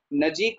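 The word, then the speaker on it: ਨਜੀਕ: नजीक को हम नजदीक नहीं पढ़ेंगे क्योंकि दद्दा नहीं लगा हुआ। अगर दद्दा लगा होता तब हम नजदीक पढ़ते, पर यहाँ पर नजीक ही उच्चारण किया जाएगा, ठीक है।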